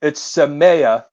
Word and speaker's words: Samaya: So I'll give you it's Samaya. That's how she pronounces it.